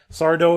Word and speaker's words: Sardo: Sardo, if you don't know, Sardo showed up very frequently. Well, like accent on the O.